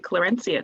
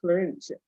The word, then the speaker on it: Clarencia: They pronounced his name with a hard C, Clarencia, something along those lines.